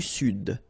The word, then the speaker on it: Sud: L'Amérique du Sud. Here you should pronounce the D.